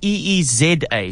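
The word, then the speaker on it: Eeza: I said, listen, Frank, you don't spell it E-E-S-A. It's E-E-Z-A.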